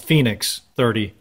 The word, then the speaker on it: FinX30: doing an overview of the newest zmx the finnex 30 as they say on their website though it's it's spelt fi nx30 but it's actually pronounced phoenix 30 from silver silver drone and you everybody knows